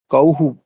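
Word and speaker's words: कौः: का, औ और विसर्ग का उच्चारण किस प्रकार होता है। हकार अर्ध हकारा, है ना। हर अर्ध हकारा सदृशम विसर्ग आधे हकार के समान कौहु, इस प्रकार से।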